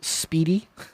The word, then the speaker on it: SPDI: spdi charter in wyoming the s p d i charter pronounced speedy speedy breaks all kinds of